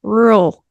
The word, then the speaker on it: rural: The way in my brain, it's supposed to be rural, 2 syllables, but I'm trying to mimic you.